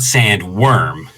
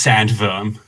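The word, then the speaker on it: sandworm: the listener uh it's it's not sand worm even in english it's pronounced sand verm sand verm yeah it's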